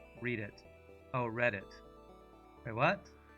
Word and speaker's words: Reddit: you literally just realized the Reddit is pronounced read it oh read it wait